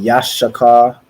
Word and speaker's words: Yashakar: So in the Hebrew, it would be Yashakar. So it's a Yash and then Shakar, which means he is hired.